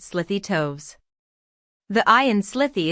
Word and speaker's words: slithy: toves the eye in slithy is long as in writhe and toves is pronounced